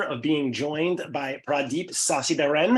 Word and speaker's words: Sacitharan: the distinct pleasure of being joined by pradeep sasi Baran how are you today pradeep very good and and congratulations pronouncing my second name um on my surname